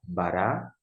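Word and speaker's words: בָּרָא: Vem a transliteração, que é a maneira que você vai pronunciar, bará, vai mostrar aqui alguns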